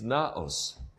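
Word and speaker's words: ναός: I'm not using the Greek letters here, using the English letters, so you can pronounce it. It's naos.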